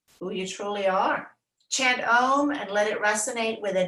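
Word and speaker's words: aum: us forth is within you the ohm sound om is how we say it but it's spelled a-u-m it starts at the back of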